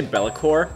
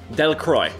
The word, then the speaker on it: Delacroix: you think she is I feel like they're trying to say bellacor but it's not they're saying like that Lacroix but that's how you say it it's actually literally